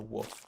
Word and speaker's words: Wolfe: And most people don't know, like they assume the spelling of my last name is the normal spelling of wolf. So it almost takes advantage of that. Like I said, most people aren't going to spell my last name with an E at the end, which is how it is pronounced and spelled.